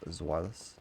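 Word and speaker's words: Zweilous: Technically the correct way to say that is just Zwilus.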